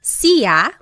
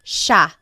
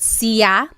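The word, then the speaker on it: siya: It looks like it should be pronounced sa, but it's actually pronounced sha sha. There are some regions in the Philippines that might pronounce it sia, but for the most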